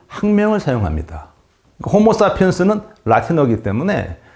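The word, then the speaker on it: Homo sapiens: 호모사피엔스는 라틴어이기 때문에 라틴어는 이 영어와 발음이 달라서 그냥 스페링 그대로 읽으면 되는 거예요.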